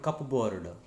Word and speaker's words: cupboard: It is cupboard, not cupboard. Cupboard. In cupboard, pa is silent. Okay, in spelling it is there, but in pronunciation it is not there.